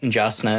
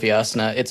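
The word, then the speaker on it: Jasnah: I did on the audiobook note, there were, I think there was at least once where Kate reading said Jasna instead of Yasna.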